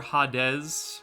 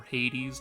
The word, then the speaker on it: Hades: a fiends Dark Ruler hadz or Hades depending how you decide to pronounce it um anti effect anti-